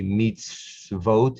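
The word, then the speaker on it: מצוות: the v meets vote that's an irregular rule when you've got the schwa and the so it's actually meets vote it's really these two letters the first one is sounded as a ver the second is the o but they are combined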